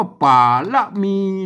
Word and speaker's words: ป๋ารมี: ครับ มา อัน บน อัน บน นี้ ต้อง อ่าน แบบ เมือง ๆ นะ ครับ อัน นี้ ตัว พระ นะ ครับ อัน นี้ ตัว ละ นะ ครับ ไม่ กี่ นะ อ่าน ว่า ป่า ละ มี นะ ครับ เห็น ไหม อ่า